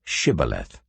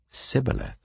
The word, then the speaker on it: shibboleth: they said all right say shibboleth if he said sibileth because he could not pronounce the word correctly They seized him and